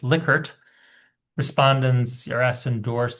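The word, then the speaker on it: Likert: Well, it's pronounced licert, not liker. People always say lyker. It's lickert.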